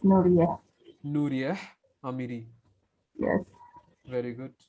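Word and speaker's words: Nourieh: How do you pronounce your name, dear? And pronounce N-O-U-R-I-E-H. Is correct? Nuria. Yes, Nuria.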